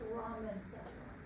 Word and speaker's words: rhombencephalon: Hindbrain is called rhombencephalon. That H you don't pronounce it, it's rhombencephalon.